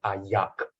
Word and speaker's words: ayam: When I travel to Terengganu, when they're trying to pronounce ayam, A-Y-A-M, so they are not going to pronounce the last consonant. They are going to replace the last consonant with a G. This is Terengganu. Also, ayam become ayak, ayak, nasi ayak, ends with ng.